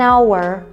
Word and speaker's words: hour: an apple an alphabet і також якщо у слові не читається перша приголосна як наприклад слово hour ми скажемо an hour це невеличке нагадування А